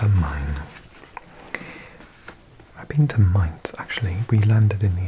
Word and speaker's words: Main: uh glinting with glass, steel and concrete skyscrapers, Frankfurt on the main, pronounced mine, is unlike any other German city, the focal point of a con connibation of 5.5 million inhabitants.